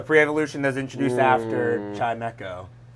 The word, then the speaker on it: Chimecho: I first saw it, it seemed like it was Chimeo. I took the echo the E with the echo instead of the E with the chime.